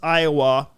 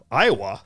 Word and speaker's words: Iowa: born in Cedar Rapids, Iowa. And Iowa, that sounded weird when I say it. How do you say it? Iowa. Iowa. Yeah, Iowa. Yeah, I hit the A little hard there.